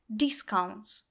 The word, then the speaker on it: discount: не discount fast лэнс обратите внимание на ударение существительным она падает на первый слог discount никакого заключения в этом